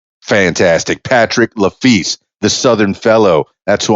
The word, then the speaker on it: LeFils: It's LeFils, like law, like LA, and then fee, like the word fee with an S on it. LeFils. Fantastic, Patrick LeFils, the Southern Fellow.